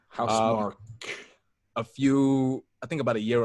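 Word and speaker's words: Housemarque: pronounced. House Mark.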